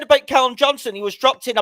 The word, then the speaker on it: Callum Johnson: It's Callum Johnson. Get the name right, please.